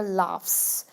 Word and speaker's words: laughs: So here, laughs, it ends with the f, with the f sound, but actually it ends with gh.